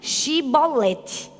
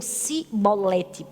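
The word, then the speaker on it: Shibboleth: não era dessa aí ele dizia assim diga chibolete E aí muitos deles diziam sibolete não conseguiram dizer Oxe por causa da pronúncia do lugar de onde eles eram e por causa disso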